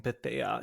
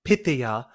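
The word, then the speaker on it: Pythia: Kitty Scott Claws mispronouncing Pthea. She kept saying Pitha the whole time till the very end.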